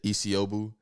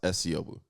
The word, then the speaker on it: Esiobu: Sometimes they say Isiobu. I let somebody slide yesterday. That don't even make sense though. Yeah. Isiobu. Like, people that probably don't know my last name is pronounced Esiobu. Esiobu. It literally look like S.